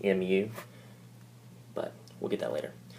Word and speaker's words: mu: Just by the way, if you didn't catch this earlier, mu is a Greek symbol. It's pronounced mu, but we'll get that later.